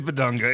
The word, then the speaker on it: Bidunga: Well, speaking of Bedunga or is it Bedonga? I think it is Bedunga. Is that how you pronounce it? I think it is Bedunga. It's just it's it's Yeah, so it's Bedunga.